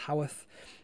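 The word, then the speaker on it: Haworth: ever been to howeth it looks like it's pronounced Hayworth but I'm pretty sure it's pronounced Howarth that's been in Yorkshire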